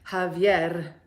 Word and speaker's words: Javier: your name is Xavier I just can't do it Javier I'm sorry that's how your name is pronounced unless you tell me you really want me to call you Xavier and that it bothers you that I call you Javier okay good that's how the Cubans say it Javier Nevada data